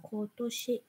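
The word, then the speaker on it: 今年: Nhớ ha, cái chữ mà ở năm nay người ta đọc là Kotoshi.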